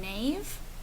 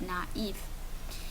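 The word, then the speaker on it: naïve: so it means that there's an A and an e and we're going to pronounce them separately instead of making Nave we're going to have naive and then finally say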